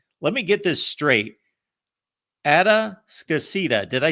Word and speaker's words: Atascocita: Atascocita. Did I say that right? Say it right, but it is Atascocita.